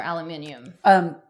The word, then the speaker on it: aluminium: And I feel like deodorant is one of them because of do you say aluminum or aluminium? Aluminum? Wait, who's aluminium is what you say in Australia.